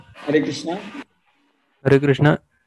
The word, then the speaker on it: कृष्ण: तो इसलिए कृष्ण, कृष्णा नहीं, कृष्ण। हरे कृष्ण कृष्ण कृष्ण हरे हरे, हरे राम राम राम हरे हरे, ये प्रोनाउंसिएशन होना चाहिए।